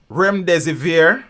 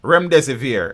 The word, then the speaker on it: Remdesivir: of coffee 19 patient i think the pronunciation of the joke is rem des eviere rem de severe yeah i think that's the pronunciation coming to look up